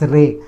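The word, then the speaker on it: रे: it as re but in hindi they name call it as re they pronounce it as ray and then others are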